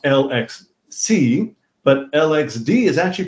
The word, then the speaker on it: LXC: years, but I just discovered that LXC is pronounced LXC, but LXD is actually pronounced LexD for some reason.